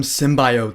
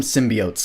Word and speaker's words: symbiote: dialogue though remember the second trailer when she was all like we called him symbiote saying everyone online was like that's not how you say that word so when she actually said it right in this movie she was all like we called him symbiotes I literally in the theater I was all like yes she said it right so she takes